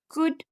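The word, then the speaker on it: could: तो जब एल से पहले ए, ई, ओ, यू आए तो एल साइलेंट होता है। जैसे हाफ, टॉक्स, फग, योक, कुड और शुड।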